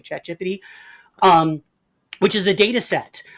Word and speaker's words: ChatGPT: That is the proper pronunciation, by the way, ChatGPT.